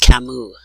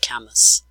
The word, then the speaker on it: Camus: the same stranger and yes his name is pronounced Camus not Camus okay so I'm going to click on search